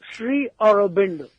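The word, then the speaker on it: Sri Aurobindo: Mystic philosopher and poet Siri how do you pronounce that name right sir arindo SRI arindo okay now I understand something happened to you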